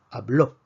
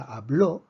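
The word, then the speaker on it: habló: es lo que observamos sin embargo la palabra hablo vemos que termina en vocal y la fuerza no está en la penúltima sílaba está en la última entonces es una excepción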